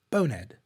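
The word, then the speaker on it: Bone'ed: Okay, so bonehead but British. Bonehead.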